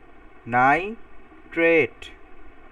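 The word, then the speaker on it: nitrate: আর যেটার অক্সিজেন বেশি সেটা এট উচ্চারণ হবে। নাইট্রেট।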